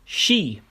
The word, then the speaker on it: Ski: Exception I know of is she meaning ski but is pronounced she similar to a g